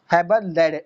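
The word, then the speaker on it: Haberlandt: तो ये 20th century में आया और दिया किसने था, गोटलाइव हेबरलैंड ने दिया था, मतलब हेबरलैंड एंड यहाँ पे साइलेंट है, लैंड ने दिया था।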